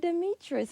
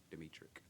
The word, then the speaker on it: Demetric: Demetrius with us today. Did I say that? Did I say your name right? K sound at the end. Demetric.